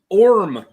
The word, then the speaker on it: Orme: It's House Orm. Mm. How do you spell that? ORME. Orm.